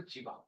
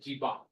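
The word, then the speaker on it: जीवा: chord is called the jiva in Sanskrit. Jiva, J-I-V. And when the Arabs learned and then took it to Europe, they could not pronounce va. They don't have va, so they said jiba.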